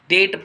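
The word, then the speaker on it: debt: डेट पढ़ते हैं वैसे, डेप्ट, डेप्ट कुछ लोग पढ़ते हैं, बी साइलेंट होता है, डेट असली उच्चारण होता है इसका।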